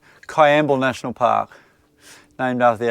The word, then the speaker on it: Kwiambal: Limestone caves you're are now in quible pronounce a there you go I going to get it right now Cay amble there you go got it right Kay amble national park named after